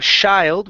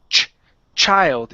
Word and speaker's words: child: Give me a ch sound instead of child with an sh. It's ch child.